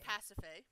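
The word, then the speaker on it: Pasiphae: and rainiac helped me figure out the correct pronunciation of this name which is pacify so the story is that there was the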